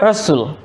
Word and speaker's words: wrestle: The word wrestle is given here. Now what the examiners want to know is where if you know that the T is silent and the cluster we have is S and L, the S and the L.